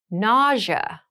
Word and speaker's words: nausea: Nausea.